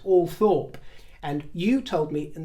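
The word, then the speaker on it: Althorp: we should call it all Thorp shouldn't we well it's two things it's one of the very few names in England that has two official pronunciations according to the BBC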